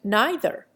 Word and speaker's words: neither: struggles put forth to give to the first syllable of these words the sound of i by those who have been brought up to give it the sound of e there is apparently an